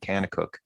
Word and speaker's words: Kanakuk: that occurred at the very popular Christian camp Kanakuk.